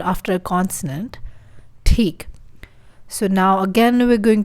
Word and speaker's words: ठीक: ठीक, which is fine. ठीक. There's a ta sound and then there's air coming out of our mouth.